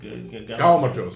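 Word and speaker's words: გაუმარჯოს: Galmajos.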